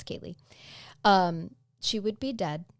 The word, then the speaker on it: Kaylea: excuse me Kay yes it is spelled k a y l EA and so I keep seeing that a at the end of her name and wanting to to say Kayla but it's it's Kaye um she would be